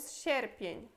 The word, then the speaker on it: sierpień: Depois temos sierpień.